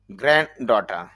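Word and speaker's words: granddaughter: গ্র্যান্ড ডটার, এখানে প্রথম যেই ড গ্র্যান্ড, এই ড সাউন্ডটা হবে না, ওমিট থাকবে, এরপর এখান থেকে আবার হবে ডটার।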